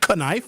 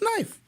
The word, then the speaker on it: knife: Like, uh in knife, you don't pronounce it kn- knife, it's knife.